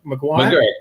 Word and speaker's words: McGuirk: McGuirk, yeah, like the Circus McGuirkus from Dr. Seuss.